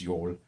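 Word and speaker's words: Jól: you're it's like it looks Jol but it's pronounced you're and that's like in Iceland and stuff like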